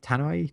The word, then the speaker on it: Tano: fan Ahsoka Tano Tano tanoi tanoi not sure how to say her second name but I think it's Tano aoka tanoi and uh